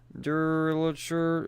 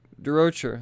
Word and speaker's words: Durocher: Brian Rookley, Anna Malkova, Angel Hernandez, Sarah Petrie, Durocher. Oops, said it wrong. Durocher. There we go.